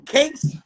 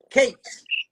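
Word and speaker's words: KAXE: But when it came to the penmanship from Cakes, the RAME, because, oh, that's another name I forgot to tell y'all. That was my RAME alias, was K-A-X-E. What? How you say it? K-A-X-E. Cakes.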